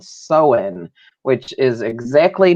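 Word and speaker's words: Samhain: a celtic tradition called so in which is exactly not how it's spelled so it's not like you know because the m is silent right you know you'd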